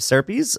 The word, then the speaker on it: Serpes: at bad case of serpes uh cuz when your last name rhymes with an STI you just got to roll with it uh health class wasn't